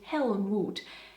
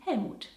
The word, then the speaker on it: Helmut: Other German names that contain hell are, for example, Helga and Helmoot. Even though Germans of course say Helga and Helmut or let's take this name.